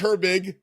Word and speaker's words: Herbig: gr b IG okay you pronounces it as if her and big were two different words George Herbig the second herb you